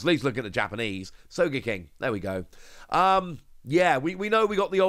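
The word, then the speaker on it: Sogeking: I believe that's how it's pronounced. At least look at the Japanese. Soga King.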